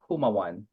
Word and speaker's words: Jumawan: So it's silent J like Jose. So it's Jumawan.